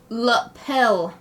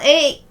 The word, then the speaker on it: lapel: But it's spelled Lapel, right? So it's lapel. Oh, so it's like lapel. Lapel. Like romance language. Lapel. Lapel. I was pronouncing it lapel like maple. Like maple syrup.